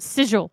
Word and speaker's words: sigil: Mercer had the same issue with the word sigil forever. He thought it was a hard G and not a J sound.